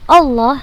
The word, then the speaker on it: Allah: dengan dua harokat Hai untuk lafaz Allah tetap dibaca panjang walaupun harokatnya tidak berdiri jadi tetap kita jadi wajib kita bacanya dua harokat tetap kita baca dua harokat walaupun harokat fathah nya tidak berdiri Hai bismilahi disini juga